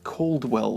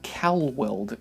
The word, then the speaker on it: Calweld: A lot of people pronounce Calweld as Caldwell because Calweld is a bit of a non-intuitive tongue twister. But in reality, it should really be pronounced Calweld, as it's actually a shortening of California Welding Company, which is an American